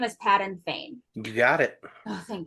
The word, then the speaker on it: Padan Fain: Chapter 3 is titled The Peddler, and Will, please correct my pronunciation of this if I'm wrong. The peddler's name is Patton Fane.